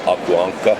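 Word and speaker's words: Aku Ankka: And I knew the editor-in-chief of Akuankka, as it's pronounced in Finnish, Jano Duck, quickly.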